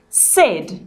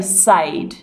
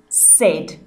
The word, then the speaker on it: said: our phonics learning and this does not sound like the a sound words we pronounce this word said we don't say sayed it is said you need to memorize